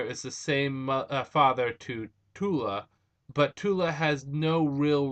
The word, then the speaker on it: Tula: I think it's Tula, who was the original Aqua Girl.